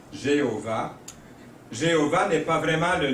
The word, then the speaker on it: Jéhovah: Et finalement, 3 voyelles ont été combinées avec les consonnes YHWH pour nous donner Yahowa, ou prononcer des fois Jéhovah en français, on prononce Jéhovah.